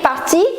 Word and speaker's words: partie: So, je suis parti, tu es parti, il est parti, elle est partie with E, but the pronunciation is going to remain the same.